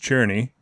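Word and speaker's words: Černý: I can say in Czech Cerny which is pronounced cherni and it means black I'll land in the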